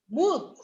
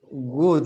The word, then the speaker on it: would: Would. Yes, who did, like, would, like this, would. Would. Do not pronounce the L.